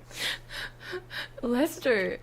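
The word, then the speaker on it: Leicester: wor but but shorter right so it's is Lester Lester I knew that yeah what's with all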